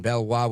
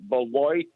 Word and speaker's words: Beloit: Valdez welcome um Rich that's the Beloit Wisconsin I'm sorry all right well we we use the French pronunciation here so we go with Bella but go right ahead